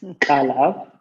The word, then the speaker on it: Kaleb: Most people can't pronounce it, so I'll just say Kaleb, but it's Kaleb.